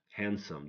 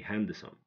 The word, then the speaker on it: handsome: We don't pronounce the middle one, like handkerchief, castle, don't say castle, castle, handsome, don't say handsome.